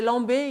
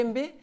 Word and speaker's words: Lembe: Des amis proches, au bout d'un an, ils disaient Lambé, ils ne pouvaient pas prononcer le Lembé.